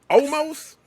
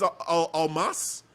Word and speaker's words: Almas: How do you pronounce his name? I think it's almost. It's like No, it's but almost saying that's not almost, the but it's not pronunciation saying anymore. almost. I think it's Almas.